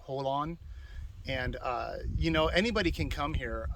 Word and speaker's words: Jolon: It's on the reservation or the property, military reservation of Fort Hunter Liggett, near the town of Jolon. I believe it's pronounced Holon.